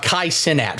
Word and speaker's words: Kai Cenat: Here's what you got to know about KAI CENAT. First off, that's how his name's pronounced.